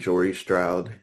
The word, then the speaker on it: Jory Stroud: in her late 30s named Jory Stroud. And yes, that's a deliberate sort of half rhyme with Laurie Strode from Halloween.